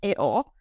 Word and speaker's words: EO: And in the film, as he is pronounced Eo, I really loved the idea of seeing the